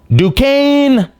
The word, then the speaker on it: Duquesne: Duquesne Dukes. They play against BYU at 12:40. That is going to be, so Duquesne, their coach, this is his last season, Keith,